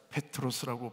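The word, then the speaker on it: Πέτρος: 베드로는 정확하게 헬라어로 한번 따보자. 페트로스. 페트로스라고 발음이 되는데 페트로스란 말은 돌이란 뜻입니다.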